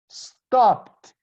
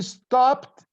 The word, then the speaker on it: stopped: IDI but I pronounce stopped she stopped going there she stopped talking to me I stopped studying at school ok so I write D D but I pronounce T like push past dance